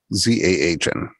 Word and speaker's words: Zahn: Zahn.